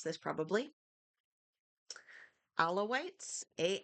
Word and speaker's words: Alawites: Alawites. A l a wii tes. I think alawites. Or no, I'm going to look this up. How to pronounce a l a w i t e. Okay. Allow it.